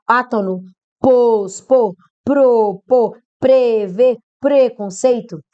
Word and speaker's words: preconceito: Pró-vida, predestinar, átono, pôs, pôr, propor, prever, preconceito? A pronúncia é preconceito, não é pré-conceito?